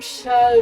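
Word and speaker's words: Seam: coup qui es-tu hommes chats des goûts bien bien bien du est bien utile mais rien eu à faire mais mon nom estime ça se prononce cha cha était mon petit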